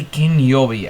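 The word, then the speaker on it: 金曜日: Final Fantasy Freddy's, or Final Fantasy Kinyobi, as I have finally learned how to pronounce it in Japanese, and I am advertising it as Japanese everywhere.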